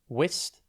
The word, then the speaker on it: wistful: It's pronounced wistful, and it is spelt W-I-S-T-F-U-L. Think whist and full, but be careful.